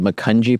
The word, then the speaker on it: Macungie: Macungie. Okay. And there was a bank that like fungi.